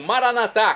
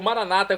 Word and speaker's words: maranatá: Agora do aramaico eu clamo maranatá, como dizemos nós católicos, ou maranata, como dizem nossos irmãos separados, os evangélicos ou protestantes. Não importa a pronúncia e o significado é o mesmo.